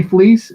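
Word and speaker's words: Fleecs: anything you do please however you like but fleece is how it's pronounced at least is how it's pronounced great so tony fleece is a writer and artist who's worked under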